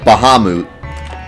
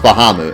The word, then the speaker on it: Bahamut: pronounced this way, so it's got to be pronounced that way. And it just blows my mind. Like Bahamut.